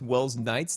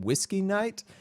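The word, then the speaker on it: Welsknight: on hermitcraft also I mispronounced Will's Knight's name I used to call him whiskey Knight um I really don't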